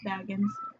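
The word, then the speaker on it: Bagans: In 2015, Zach Baggins. It's pronounced Baggins.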